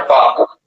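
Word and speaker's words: tau: ये Greek alphabet है, इस ग्रीक अल्फाबेट का प्रोनाउंसिएशन है टाउ, मत पढ़ना, टाउ नहीं पढ़ना।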